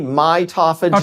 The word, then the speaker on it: mitophagy: So autophagy, mitophagy.